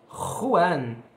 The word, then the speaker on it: Juan: Porque esse J é o J do espanhol. Juan.